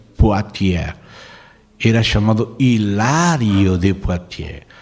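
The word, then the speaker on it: Poitiers: Numa cidade chamada potier se escreve Poitier se pronuncia Poitier era chamado Hilário de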